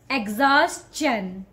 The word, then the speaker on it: exhaustion: You will just find one way to pronounce this word. And that is exhaustion. Exhaustion. Don't call it exhaustion, okay?